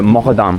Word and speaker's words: Muqaddam: Yeah, so his name is Muqaddam, but they pronounce kaf like some combination of a G. Yeah, Muqaddam.